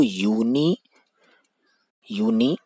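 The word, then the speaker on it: university: तो यूनिवर्सिटी की जो साउंड है वो वाई डबल ओ, यानी कि इसका जो प्रोनाउंसिएशन है वो यूनिवर्सिटी यूनिवर्सिटी ऐसे आ रहा है। तो फिर से हमारे पास जो साउंड है वो कॉन्सोनेंट साउंड है, तो यहाँ पे हम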